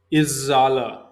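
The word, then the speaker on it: erzählen: Here also you have to use umlaut, comma two dots above A. Here you have to use this Izzala. This is how you have to pronounce.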